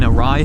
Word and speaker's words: Arai: Right now, I am currently riding with an Arai helmet. I'm pretty sure I'm pronouncing that right. A R A I A AI. It is honestly a fantastic helmet.